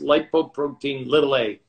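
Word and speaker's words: lipoprotein(a): over and over in the years that it's pronounced lipoprotein little a and one out of every four of us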